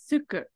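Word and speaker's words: 空く: So this, another, so when that kanji right there means empty and it's a verb, it's pronounced as suku.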